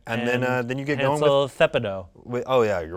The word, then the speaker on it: Thepedo: And then you get Hansel Thepido. oh yeah, you're right. I pronounced it wrong. It's Thepido. Yeah, it's Hansel Thepido. It's not Hansel the pedo. No. It's Thepido.